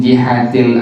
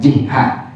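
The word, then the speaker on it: جهة: 1, sawa'un kanat min jihatil abi au min jihatil ummi. Sekali lagi ya, dibaca jihati bukan jihah. Jadi kalau lempengan ini dibacanya jangan jihah tapi jihati. Kalau jihah artinya arah, ini sisi, jihati.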